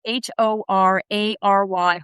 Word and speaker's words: horary: A horary question which is a very difficult word to pronounce. H O R A R Y horary.